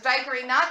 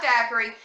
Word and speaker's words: daiquiri: alive a lot longer she knew how to pronounce it and it was diary knock daiquiri so we're at dinner